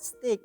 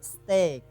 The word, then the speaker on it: steak: You should pronounce it, make it longer. For example, like steak. Okay, steak.